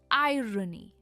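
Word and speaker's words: irony: आयरॉनिक एक adjective है और इसकी प्रोनाउंसिएशन है आयरोनिक। स्ट्रेस रॉ पर है, आयरॉनिक।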